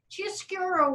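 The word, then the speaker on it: chiaroscuro: the chiastura style and that's spelled kind of weird c-i-a-s-c-u-r-r-o chia sphero c-i is in italian so without further ado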